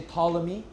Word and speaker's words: Ptolemy: You spell his name starting with a T, but you don't pronounce it. So just say Ptolemy.